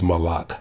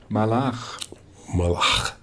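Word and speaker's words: מלאך: So the Hebrew word for angel is, as a messenger of God, is malach. So let's click on that speaker. Malach. Okay. Malach. Okay, that's the Hebrew pronunciation.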